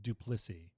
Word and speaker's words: Duplissea: My last name is pronounced Duplissea, by the way. Duplissea.